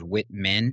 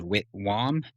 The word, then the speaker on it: Whitwam: I introduced him as Witman. And if you look at the spelling of his name, it is actually Witwam.